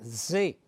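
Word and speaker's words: זה: tiene un el sujeto que se pronuncia tto que quiere decir esto en arameo se pronuncia da y en hebreo se pronuncia ze y significa esto pero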